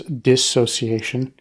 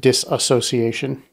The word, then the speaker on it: dissociation: one one the first one is the the pronunciation it is dissociation uh a lot of people out there will pronounce it dis association right they'll add they'll add add to a